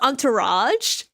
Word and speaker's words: entourage: But isn't it pronounced entourage?